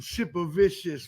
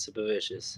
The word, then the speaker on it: Sipavicius: Shout out to Queens Ryan Super Vicious.